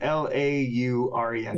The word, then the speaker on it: Laurent: Spell that? Not that it matters. Gabriel, G-A-B. Yeah, I know that part. Laurent, L-A-U-R-E-N-T.